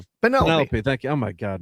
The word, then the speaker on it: Penelope: Not take come out of retirement, take over the reigns of government and save Penelope pen, how do you say Penelopey?